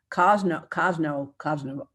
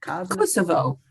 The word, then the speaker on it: Kosovo: secure economic and voting rights for women in Kosovo. How do you say that? Kosovo.